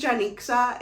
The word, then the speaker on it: Janixa: i am very particular about how things are pronounced because of the name that i have my name is janixa and i'm sure you've never heard of that